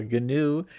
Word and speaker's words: GNU: gnu uh of course we in computers we pronounce the g a hard g uh a lot of